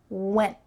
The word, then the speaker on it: went: My tongue is stopping at the top of my mouth. This is the position for a T. Went. But I'm not letting that puff of air come through. I'm just stopping it.